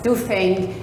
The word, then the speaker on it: Duffing: And so I would like you, if you start pronouncing his name in a proper way as Duffing and referring to the Duffing equation.